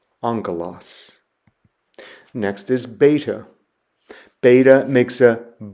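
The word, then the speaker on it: ἄγγελος: The Greek word that I have there is the word for angel or messenger, and so it's pronounced angelos, angelos.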